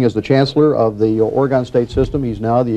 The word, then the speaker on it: Oregon: and teach you and some other Easterners that O-R-E-G-O-N is pronounced Oregon, not Oregon.